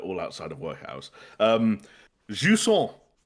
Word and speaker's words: Jusant: Jusant. I'm gonna give it its official French pronunciation. It's not Jusant, for as much as I love it to be.